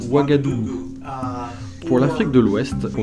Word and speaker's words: Ouagadougou: j'ai dû apprendre à prononcer wagadou pour l'afrique de l'ouest on devrait travailler ensemble